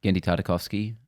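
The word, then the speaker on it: Genndy Tartakovsky: Finally, we have a short clip from Primal, which is a guy, I can't pronounce his name. Gendy Tartakovsky.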